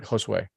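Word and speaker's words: Josué: Josue.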